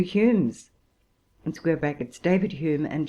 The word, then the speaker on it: Hume: such as the 2 Humes, (David Hume and John Hume, spelt Home, whose names had the same pronunciation), Robertson, Smith, Wallace, Blair, Ferguson, Wilkie, etc.